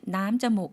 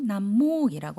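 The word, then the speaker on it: น้ำมูก: 다만 콧물에서는 남자목 아니고 남목이라고 한다는 거 헷갈리지 마시고 기억해 주시면 되겠습니다.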